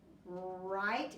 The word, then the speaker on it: write: I will tell you there is a silent letter at the beginning of that so it does not really start with the herb do you know what that silent letter is I hope you said W I write is your